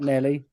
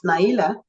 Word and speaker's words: Naila: yeah your name Nelly it's not Nelly it's not it's Naila Naila okay if you spell